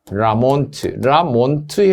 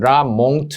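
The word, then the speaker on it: La Mont: 베록스, 라몬트 해도 되고요. 라몽트 해도 되고 라몽 해도 돼요. 발음이 MONT거든요.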